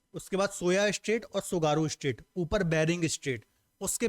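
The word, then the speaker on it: Tsugaru: सुगारू, ऐसे लिखते हैं, है ना, टी साइलेंट है, हिंदी में आप डायरेक्ट सुगारू लिख सकते हैं।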